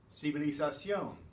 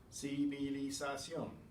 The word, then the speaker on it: civilización: Civilización, civilización. Every syllable is separate. Civilización, civilización, civilización when you speed it up.